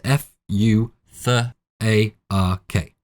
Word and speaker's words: Futhark: The pronunciation of the first six characters is F, U, TH, A, R, K, hence Futhark .